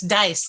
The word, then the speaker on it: Dias: Dias, is it Dias or Diaz? I want to make sure I say it right. it's dice, like roll the dice.